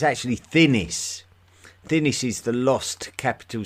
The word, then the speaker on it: Thinis: He's tried to spell it 6 times. It's actually Thinis.